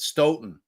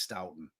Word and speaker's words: Stoughton: off or is it ston ston ston all right free bird this it ston ston come on I was wondering that before I went in but we all agree that phonetically it's stouton correct I mean I can't